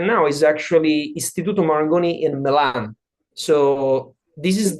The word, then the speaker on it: Marangoni: Now of course if I say Marangoni, Maranggoni sounds very Italian, right? Uh if I want if I need to use let's say my full pronunciation, I will say Marangoni.